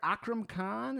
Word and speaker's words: Akram Khan: Am I pronouncing it Akram Khan?